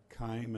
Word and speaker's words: Keim: committee for the record my name is Kim and that's spelled Keim I'm here today representing